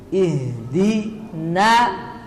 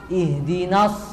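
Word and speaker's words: اهدنا: dan dia mengalir ihdi ihdi na ini nanya jangan sampai ketebalan karena ada Shad setelahnya jangan sampai dibaca no ihdinas tapi ihdina ihdin kemudian SH ini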